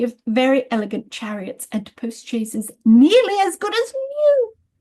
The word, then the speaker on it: post-chaise: Uh but in English it's pronounced postches uh with a ch and um it comes out of the idea of a chair on wheels effectively.